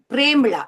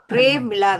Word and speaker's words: பிரேமிளா: இதே போல நீங்க நல்ல விஷயங்கள் நிறைந்த இந்த பிரேமிளா, இவட பேர் பிரேமிளா ராம்குமார், சரியான உச்சரிப்பு பிரேமிளா தான், பிரமிளா ரெண்டு மாதிரியும் உச்சரிக்கலாம். அவ நீங்க கொண்டு வந்த மாதிரி